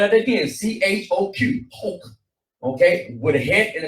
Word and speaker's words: choq: Spell it again. CHOQ. Hoke.